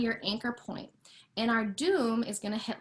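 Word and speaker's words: doum: the first um basic part which is called doom d-o-u-m is how it's spelled so what you're going to do playing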